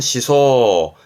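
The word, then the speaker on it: 思想: 이라든가 본인의 의사 결정처럼 그런 의사가 이시 사상자 발음은 시소 시소 말 그대로 생각하는 거 그러니까 뭐 철학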